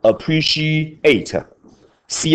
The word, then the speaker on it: appreciate: 来，口诀：习练完，喜欢国中叫 enjoy，高中叫什么？appreciate，ci 念成 she，appreciate，ci 念成 she，为什么？sh 念 she，ci 念 she，ti 念 she。HHCITI 都念什么？